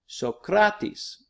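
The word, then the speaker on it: Σωκράτης: be reading later this year so craw T's Sokratis that's the Greek philosopher Socrates the next is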